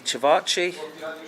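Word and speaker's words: ćevapi: I ordered first off for starters the cevachi.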